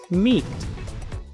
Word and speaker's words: meat: Meet. Esta palabra se pronuncia meet porque la E se pronuncia I, la A es muda, luego se pronuncia la T. Meet.